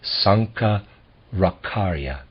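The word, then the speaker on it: Shankaracharya: Century A.D Sankar akarya I'm going to spell his name s-a-n-k-a-r-a-c-h-a-r-y-a I'm gonna pronounce that Sanka rakharya we will pay less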